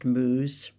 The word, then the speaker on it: Mouse: And I told them that his name was Jules Mouse, which was actually written Mouse, pronounced Mooze.